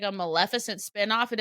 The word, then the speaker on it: Maleficent: I love a Melissant. A Maleficent. That's a hard one for me to pronounce. Maleficent is how we say it.